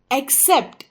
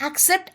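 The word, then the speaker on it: accept: एक बड़ा शब्द है लेकिन यहां भी हम इस शब्द का उच्चारण एक्सेप्ट ऐसा करेंगे ए सी सी ई पीटी को हम एक्सेप्ट ऐसे बोलते हैं क्योंकि यहां पहले सी की आवाज क होती है और दूसरे सी की आवाज स होगी सी आई टी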